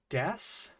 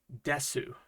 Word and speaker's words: です: asking puy and say why are you saying des and not Desu well okay we've got two words here and I'm sure you can read them both right this is des and sushi Des sushi so why aren't we making the o sound when we say Des Sue is just a bit